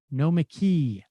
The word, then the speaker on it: Nomiki: but zero sum sam try pronouncing nomiki's name as if it was written no mckee also think of the emphasis on employee let's have an experiment